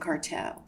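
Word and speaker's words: Carteaud: Okay, so I'll just tell you how it's pronounced. So it's basically congenital and reticulated papillomatosis of Gougerot and Carteau.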